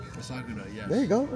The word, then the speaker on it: Asakura: And Kai, I'm not going to say his name on camera because I'm going to pronounce it wrong. Asakura. Asakura, yes.